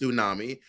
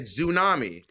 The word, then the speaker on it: tsunami: way mon tried to Gaslight me it is pronounced tsunami she clarified that today and you were like she said zunami so I first of all her accent is